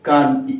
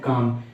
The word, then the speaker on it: calm: 17, ठीक है, CALM, इसमें ठीक है काल। अब इसको काल में नहीं पढ़ा जाएगा, काल में इसमें एल वर्ड साइलेंट होता है, तो इसे क्या पढ़ते हैं? काम, CALM, काम।